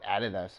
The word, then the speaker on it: adidas: Italy adidas ones there let's say you Americans pronounce it we call it added us here in Australia Mizuno's that's a weird-looking